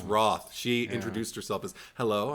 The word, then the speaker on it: Rothe: I always been saying Rothe for all this time because there's fucking E at the end of it, but it's Rothe. She introduced herself as, hello, I'm Jessica Rothe, and I'm going to